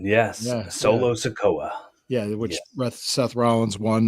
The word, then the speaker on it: Solo Sikoa: Solo Sikoa. Yep. Did I say his name right? You did. Yes. Yeah, Solo Sikoa.